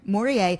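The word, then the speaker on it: Morellet: Morier, who opened a restaurant in the meatacking district in the 80s.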